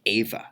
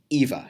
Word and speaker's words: Eva: got my best friend she her name is ava her yeah her name is ava and I go but in there put in the post it's Evie a that's Eva she goes no it's pronounced Eva I'm like